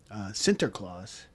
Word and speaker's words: Sinterklaas: In Dutch, Saint Nicholas is Sinterklaas. That's how you pronounce it.